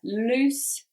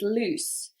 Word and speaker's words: loose: lose loose and lose so different pronunciation as well one is longer than the other loose lose okay so loose means free or not tight the opposite like my jumper is loose means it's too big